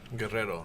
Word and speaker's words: Guerrero: How do you pronounce it so I don't hack this up? Guerrero. Guerrero.